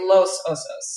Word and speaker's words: Los Osos: So, is is is it pronounced loss osos? It's interesting because there's there's lo Angeles, right? Los Angeles, and then it's but we say Los Osos, and I don't know